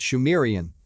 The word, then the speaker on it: Sumerian: He writes, it is also reckoned that the subsequent culture of the region, phonetically called Sumerian, pronounced Shumerian, was actually Sidmurian, Shemurian.